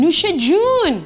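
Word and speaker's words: نوش جان: Nooshe-jun.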